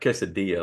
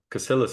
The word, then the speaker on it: Caillas: your last name right pronounced it's like quadia like Casas but uh cillus is fine quadas really now I'll